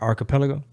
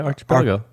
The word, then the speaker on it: archipelago: i'm reading the gulag let me say this word right how you say it they're not good are archipelago oh they're pretty good yeah archipelago archipelago well they told me don't say ch really don't that's what